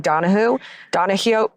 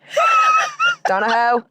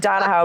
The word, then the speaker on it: Donahoe: Yeah, so he got replaced, and the new guy was Patrick Donahue. Donahue. It's spelled Donahoe, so that's why I said Donahoe, but it's not Donahoe, it's Donahue.